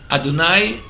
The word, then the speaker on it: Adonai: talks about adonai elohim adonai is usually god's first name and that's the way we pronounce the god's name as spelled y h w h the four letters of